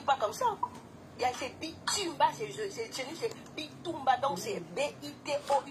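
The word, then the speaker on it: Bitoumba: Ceux de Kinshasa, ça s'écrit pas comme ça. C'est Bitumba, c'est Bitumba, donc c'est B-I-T-O-U.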